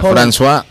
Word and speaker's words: François: ¿Cómo se pronuncia? François.